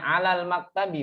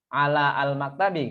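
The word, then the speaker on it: على المكتب: Makanya kita bacanya alal maktabi bukan ala al-maktabi kan Bu.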